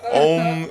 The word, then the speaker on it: Om: Om is two syllables, even though it sounds like one.